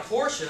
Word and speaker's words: Porsche: That you went out and bought a Porsche, and that's how it's pronounced.